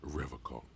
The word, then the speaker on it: Revachol: He pronounces Revacol with a hard K. Oh, it's not unlike pronounced other that. people. You said Revacol? Revacol?